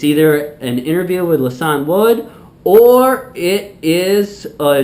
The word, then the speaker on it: Lisan: So joining me now is Milwaukee comedian Lisan Wood. Hello. Did I say it right? No. It's Lisan. Lisan.